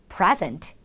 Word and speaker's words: present: 여러분들은 보통 present 이렇게 발음을 하시겠죠. 하지만 강세가 이, 맨 앞에 이 이름절에 있어요. present. 그런데 제출하다라는 의미로 사용할 경우 present 하면서 강세는 이음절로 가게 됩니다.